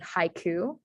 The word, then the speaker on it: haiku: 17 syllables okay so you basically have in japanese the i sound dispelled with an a i and then the u sound dispelled with just a u uh we don't have to go fancy or do an o u or anything like that in japanese it's just spelled you um so the correct